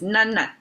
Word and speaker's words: 囡: I read it on a book and later learned it's pronounced as none. And then somebody in the southern China would address little girls as nun like this.